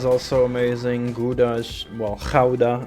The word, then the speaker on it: Gouda: Gouda is, well, Gouda, I should say, as a Dutchman. Well, in English it's pronounced Gouda, but yeah, Gouda is amazing too.